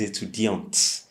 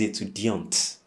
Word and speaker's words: étudiante: With a female student, you say je suis étudiante. So you pronounce the T, okay? Je suis étudiant, a male student. But if you're female, then you say je suis étudiante, meaning I'm a student.